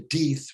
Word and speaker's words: Deeth: I haven't been to Deeth, which rhymes with teeth.